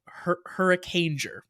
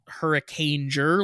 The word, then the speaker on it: Hurricaneger: my head like, oh, this is probably not pronounced Hurricaneger like ranger, like it probably is like a different sound.